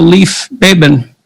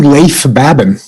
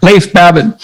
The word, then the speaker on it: Leif Babin: The Dichotomy of Leadership with fellow retired SEAL Leif Babin. Did I pronounce that right? It's actually Leif Babin. Oh, so I didn't pronounce it right at all. Leif Babin.